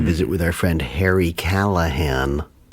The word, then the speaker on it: Callahan: Is he Callahan? Yeah. Yes, Callahan, yeah. Harry Callahan. I had to look up how to spell it. I assume there was a G in it, and there is not. So it's all just L's and H's. Call a hand.